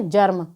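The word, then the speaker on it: germ: इसी प्रकार से जी ई आर एम, तो जब जी के बाद में ई आर एम आ रहा हो तो वहाँ पर जी का उच्चारण ज होता है।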